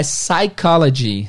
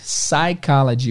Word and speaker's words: psychology: gente vai falar da palavra psicologia que é o mesmo caso da pneumonia não tem um p na pronúncia então pneumonia é pneumonia e Psicologia é psychology psychology o p não é pronunciado outros exemplos de PS